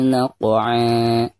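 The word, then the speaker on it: نقعا: Pertama kita baca qafnya itu harus dikolkolahkan ya, karena huruf qaf merupakan salah satu daripada huruf qalqalah, dan di sini posisinya ada di tengah-tengah bacaan. Berarti dihukumi qalqalah sugro dan dibacanya harus dipantulkan ya. Naq'a, seperti itu.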